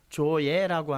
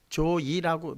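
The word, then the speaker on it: ζωή: 조예라고 하는 단어를 썼어요. 조이라고, 자이라고도 발음을 합니다.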